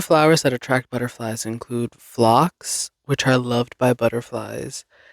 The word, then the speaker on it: phlox: The breakdown says Flaaks and it's all together. And I would read that as like flat.